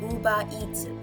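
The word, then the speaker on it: ウーバー: But they say uba. So you just drag the ooh sound, the ba sound and the e sound and then you pronounce it as uba.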